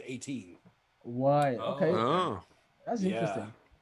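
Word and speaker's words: A'TIN: It's A apostrophe TIN, but you pronounce it 18.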